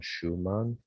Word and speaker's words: Shewmon: Alan Schumann. His last name is spelled Shewmon.